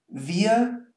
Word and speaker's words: wir: And this one is pronounced ihr. So there's no R whatsoever. It's wir, ihr.